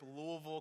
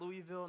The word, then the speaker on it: Louisville: Louisville Kentucky originally and yes that's how have to say it like your mouth is full of maple syrup Louisville Kentucky not Louisville not Louisville Louisville and I went to